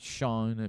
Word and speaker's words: Chone: Yeah, It's not Chone. It's Sean, but it's like more like it is basically Sean.